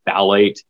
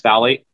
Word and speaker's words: phthalate: endocrine destructor is the phthalate it's spelled very funny the p is silent um but it's essentially